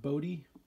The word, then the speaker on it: Bode: I think that's how you pronounce it, Bode, Bode.